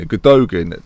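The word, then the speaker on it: Gündoğan: Right then, City have brought in Gundogan, Nolito. Is that how you say it? Gundogan? I would always say it. Gundogan. Gundogan? Either or. Yeah, because it's Turkish. And Gundogan. Sure. You don't pronounce the G.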